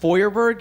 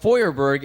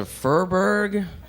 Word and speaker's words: Feuerberg: supposed to be pronounced foyerberg if you ever see it spelled it's spelled f-e-u-e-r-b-e-r-g I almost lost my place there for a moment uh it's German it's supposed to be pronounced foyerberg and it means in